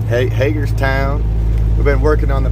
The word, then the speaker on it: Hagerstown: back to hagerstown i said that right right hagerstown we've been working on the pronunciation uh david here asked the locals so